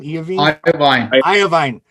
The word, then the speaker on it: Iovine: How do you pronounce his name? Iovine.